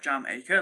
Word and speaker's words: Jamaica: So, Jamaica High says it's pronounced like jam acre, like the country and adah.